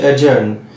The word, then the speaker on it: adjourn: Number ওয়ানে আমার যে শব্দটা বলবো সেটা হচ্ছে অ্যাডজার্ন, ADJOURN, এর উচ্চারণ অ্যাডজার্ন নয় অ্যাডজার্ন, ডি সাইলেন্ট।